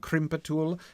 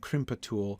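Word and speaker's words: krimpatul: The rhythm and sound of gimbatul and crimpatul make me want to stress the first and third syllables. Me too. But the way pot and bot sounds are used in the rest of the verse makes me want to stress them.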